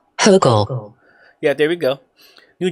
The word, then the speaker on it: Hochul: Hochul.